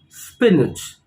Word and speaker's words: spinach: In English it's called spinach. Spinach. So again the stress is on the first syllable or the first part of the word, spinach. Now look at this.